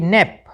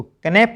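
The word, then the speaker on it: knap: के साइलेंट रहता है इसलिए के एन ए पी को कनेप नहीं पढ़ना नेप के एन आई जी एस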